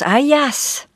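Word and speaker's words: Αἴας: littérat en notant que Ajax porte en grec un nom qui se prononce Ayas et qui qui signifie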